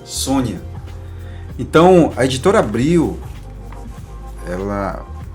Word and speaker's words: Sonja: Ela diz assim, eh, quando eu falo sonja, ela diz assim: "Olha, pronuncia-se Sônia".